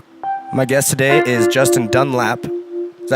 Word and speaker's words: Dunlap: My guest today is Justin Dunlap. Is that how you pronounce it? Yes. Yeah. Okay. Not like the tire company with an Not A. Dunlop. No.